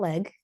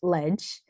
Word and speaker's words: Leg: that is spelled leg it is not leg it is pronounced ledge uh just like real